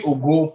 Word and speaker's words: Ogo: it's actually Ogo, like Ogolua.